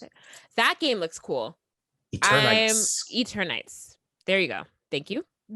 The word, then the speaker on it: Eternights: Is that how you pronounce it? That game looks cool. Eternights.